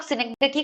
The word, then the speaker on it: synecdoche: एक तो इस word का pronunciation बहुत सारे लोग गलत करते हैं. दोषी नहीं होता. It's synecdoche. Okay.